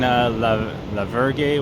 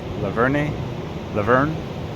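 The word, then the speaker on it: La Vergne: Like being in Lavergy, whatever it's called, Laverne, is how you pronounce it, is very hot because there's no shade.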